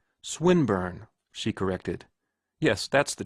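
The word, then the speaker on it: Swinburne: swatted meant this man swine bur he began attempting to put his plan into execution and pronouncing the eye long who swinburn he repeated with the same mispronunciation the poet swinburn she corrected yes that's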